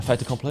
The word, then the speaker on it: fait accompli: First of all, obviously the fact that it's not a fait accompli. Is that how you say it? A fait accompli?